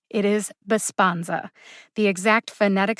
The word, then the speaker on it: Besponsa: out by the way the second syllable spawn gets the emphasis now just my opinion here bassbonza sounds a lot like the word respond besponza respond respond bisponza can you hear the syllable that's emphasized besponza again the